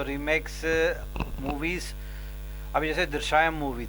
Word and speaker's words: दृश्यम: मैं तो remakes movies, अभी जैसे दृश्यम मूवी थी, am I pronouncing it right? दृश्यम, हाँ, दृश्यम प्रोडक्शन है, दृश्यम जिसमें अजय देवगन था, उसमें ओरिजिनल में देखोगे तो कमल हसन है।